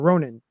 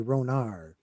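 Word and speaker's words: Rhoyne: Yeah, it's spelled Rh O Y N E. So I don't know why I say ronar but it the the ronar of the people the ron mother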